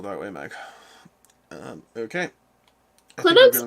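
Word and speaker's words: Klynoks: way Meg um okay clinics almost like Inox but but really it's k-l-y-n-o-k-s it Rhymes exactly in my opinion that's how you say anox Grove should we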